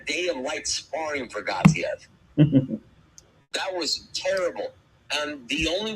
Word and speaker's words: Gassiev: Now, whenever you say Murat Gassiev, you have to pronounce it like Teddy Atlas, right? Murat Gassiev.